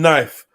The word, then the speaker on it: knife: pronounce the k in knife spelling would be so much easier if we even pronounce the k in words like knife knob knit no just omitted so why do we have